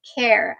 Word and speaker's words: Khair: to the pistachio um care I believe that's how you pronounce it k h a i r now those bottles in